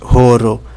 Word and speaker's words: horo: letra muda em Esperanto Existe a palavra joro e oro elas duas têm pronúncias diferentes e significado diferente horo é hora oro é em esperant então não existem letras mudas todas são pronunciadas as letras tem apenas